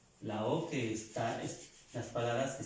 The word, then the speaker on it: eau: La EAU, O. Ya, con la EAU, el ejemplo. Vamos. Y la palabra, sí. La palabra agua. Estas tres letras, estas tres vocales suenan O. Agua se pronuncia O.